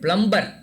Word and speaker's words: plumber: Then plumber. No, Plumber. that M has to be little silent. Plumber. Like that.